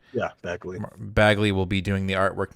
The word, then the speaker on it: Bagley: is it am i saying it right yeah bagley will be doing the artwork now i don't